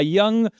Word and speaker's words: Young: So, I grew up in in a near a town called Young, that is Young, but we call it Young because we basically Spanish pronunciation of Young.